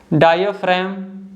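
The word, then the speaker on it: diaphragm: एम के पहले आ जाता है तो जी साइलेंट होता है, जैसे कि डायफ्राम, पैराडाइम।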